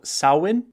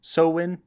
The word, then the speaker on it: Samhain: an ancient Celtic tradition called sawin or sawin sowin that it seems to be several pronunciations which was marked as